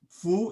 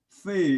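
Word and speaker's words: 芾: The letter Fu is more authentic. Fei is maybe a misread, I think. So for more educated people, they pronounce it as a Fu, but for common people,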